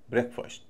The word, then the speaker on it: breakfast: बी आर इ ए के को अलग बोलेंगे ब्रेक लंबा ए ब्रेक। जब ये मिल जाते हैं तो उच्चारण होगा ब्रेकफास्ट। ब्रेकफास्ट छोटा ए।